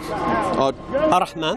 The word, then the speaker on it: Ar-Rahman: Then we've got at the top there, how do I pronounce that in Arabic? Ar-Rahman.